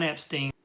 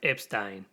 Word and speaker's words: Epstein: history in 1961 Ron Epstein okay just a little correction it's actually pronounced Epstein Brian Epstein I've always known that